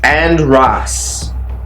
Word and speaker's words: Andras: undress okay so here we go so undress pronounce and Ross works good in groups as in breaking them up andris can help you defeat a group of people